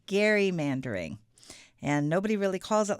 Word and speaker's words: gerrymandering: I learned this weekend that it is pronounced gerrymandering and nobody really calls it like that, but it is a thing.